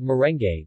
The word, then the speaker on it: merengue: the Spanish influence but they are called merengue with all the vowels pronounced leche flan is a